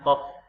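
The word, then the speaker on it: ق: Ini bacanya kof, ya. Ko bukan ko. Ini ko ini ketika dia berbaris. Berarti ini kof.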